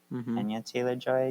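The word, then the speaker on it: Anya Taylor-Joy: Ana Taylor Joy. Anya Taylor Joy.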